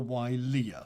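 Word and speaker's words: Wilier: do the y bit you could get another family to do the lee a bit and then you as the sort of master or mistress of ceremonies even you could put them together and you get your why leah so that nice nice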